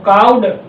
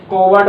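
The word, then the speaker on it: coward: तो काउड इसे wrong pronounce करते हैं मोस्टली स्टूडेंट, कोवर्ड बोल देते हैं, कावर्ड बोल देते हैं। तो कैसे क्या रहता है, आर जब भी आपके वर्ड में आएगा, आर के बाद कॉन्सोनेंट आएगा, आर साइलेंट हो जाएगा।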